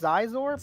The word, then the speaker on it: Scizor: zor I think it's I think it's pronounced zizor but zor go to